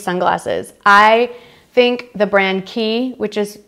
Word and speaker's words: Quay: I think the brand key which is spelled QW a Y and one would think is pronounced Quay but it is not the key brand is